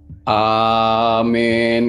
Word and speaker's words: Amin: nah itu nah itu kalau dibacanya benar cara bacanya tuh adalah waktu kita baca Amin itu biarkan ya di bawah di bawah pusar kita itu kata-kata a-nya tuh naik A jadi jangan a-nya tuh jangan di leher tapi di bawah gitu